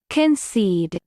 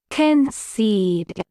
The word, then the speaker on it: concede: the territory he'd won American pronunciation concede Ken seed repeat the word after